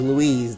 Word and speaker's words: Luis: different problem anyway uh it is Louise when it's spelled l u i s not Louis cuz LS is with an o in it unless you want it